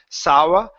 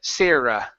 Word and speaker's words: Sarah: good let's go to the word Sarah instead of sawa sayre sera sera there you go good are good